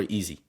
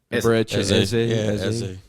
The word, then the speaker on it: Eze: Is it Eze or Easy? Eze.